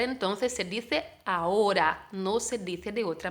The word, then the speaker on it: ahora: Entonces, esta letra H existe dentro de la palabra ahora, pero como la gran parte de las H's en español no la pronunciamos, no hay sonido para esta letra, entonces se dice ahora, no se dice de otra manera.